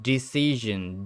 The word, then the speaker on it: decision: This changes from decision. Decision. A long I sound in decide to a short I decision sound.